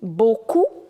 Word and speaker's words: beaucoup: Now here two combinations. E-A-U in French is O. And O-U in French is ou. So B-E-A-U becomes beau and C-O-U becomes cou. Beaucoup. P you will not pronounce.